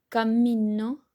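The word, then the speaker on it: cammino: a significar otra cosa si tiene doble m significa camino y Cómo se dice De esta manera se dice así camino camino solamente tengo que estirar un chiquitín más la palabra nada más si ese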